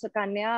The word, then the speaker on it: Sukanya: taking it home yeah you win hands down sakanya did i pronounce that right yeah yeah right hi my name is sukanya i'm from kolkata india i grew up in